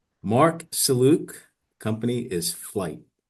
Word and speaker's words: Marc Sellouk: So, first let's start with say your full name and the name of your company just in case I mispronounce any words. Mark Saluc Company is Flight.